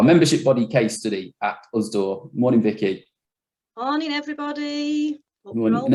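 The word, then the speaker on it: USDAW: Is it politically correct to call it USDOR? Is that the way to say it? Yeah, that's how we say it. We have all different variations of members pronouncing it differently, but yeah, USDOR.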